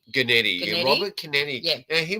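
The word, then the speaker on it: Guenette: Now, the director here, Robert, how do I pronounce his name? Gennady? Gennady.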